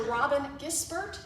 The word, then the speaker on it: Robyn Gisbert: Robyn Gisbert, did I pronounce that correctly?